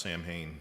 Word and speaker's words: Samhain: The Wikipedia says it's pronounced Samhain, so it's Yeah.